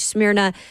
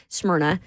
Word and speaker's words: Smyrna: They've got locations in White House, Mount Juliet, Rivergate, Smyrna, Smyrna, excuse me. That was very bad pronunciation.